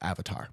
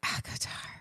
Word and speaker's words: ACOTAR: I think it's pronounced Avatar. No, it's ACOTAR.